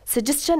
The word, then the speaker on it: suggestion: حرف اس بیایه ما چند تلفظ میکنیم شن تلفظ نمیشه مثل suggestion یعنی پیشنهاد دادن اینجا بعض از سوالات مطرح